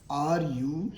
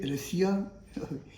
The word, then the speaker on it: Russia: How do you pronounce this? Do you say Russia? If you say Russia, it is again incorrect. So the question is, what is the correct pronunciation of this term? The correct pronunciation of this word is Russia, not Russia.